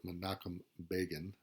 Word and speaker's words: Menachem Begin: So in 1978, the Egyptian president Anwar al-Sadat, pictured here, and Israeli President, or Israeli Prime Minister Menachem Begin, is how you pronounce that, meet with President Carter at Camp David.